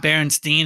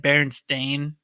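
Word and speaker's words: Berenstain: it wrong i think it's not berenstein it's like bear and stain and this whole reason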